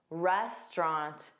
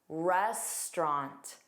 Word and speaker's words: restaurant: Restaurant. What vowel sound don't you hear? Well, that middle au. Most Americans will pronounce this with two sounds, restaurant, and drop it entirely.